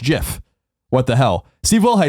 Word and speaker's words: GIF: pronunciations they are wrong it is a soft G pronounced GIF end of story end quote you hear